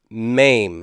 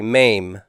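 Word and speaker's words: מם: the next consonant is maim everybody mame maim uh that sounds like an action where you like hurt somebody really bad mame okay there's two forms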